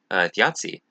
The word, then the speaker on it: Þjazi: it uh but yeah theiai uh is how it's pronounced kind of like pizza where it has that that t sound in it um but yeah theiai